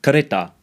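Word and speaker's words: kereta: the Malay pronunciation of karita final ah is usually pronounced as a schwa in Malay at least in Malaysia a couple more examples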